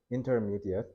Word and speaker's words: intermediate: intermediate. 알겠죠? 그래서 초급반이 beginner, 고급반이 advanced면 가운데는 intermediate이라고 해요. 그래서 이거 발음할 때 intermediate라고 하면 안 돼. intermediate, mediate 이렇게 발음해야 돼요.